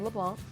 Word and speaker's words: LeBlanc: business I am here right now with LeBlanc and he's the SVP & chief development officer